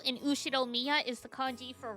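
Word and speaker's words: Ushiromiya: The first part is my family name, Ushiro Miya. That's a fairly plausible Japanese pronunciation so far.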